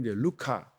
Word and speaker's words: 루카: 후편 처럼 이어져 있습니다 아 우리 개신교에서 이제 누가 라고 발음을 하지만 그 이름을 아 원래 이름 루카 뭐 루카 써 루카 라고 하는데 루카가 이제 아 빛나다